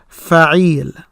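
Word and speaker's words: فعيل: Okay, so the way that we pronounce this is Faail. Faail. Not Faail. Faail. Not Faail. Faail. The Fa here is short. No Aleph after it. The Ain, the Kesra, that's what's made long here.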